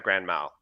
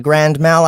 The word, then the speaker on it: grand mal: at the underground mouth you'd say it like it's one word uh like I had a grand mal okay one sec let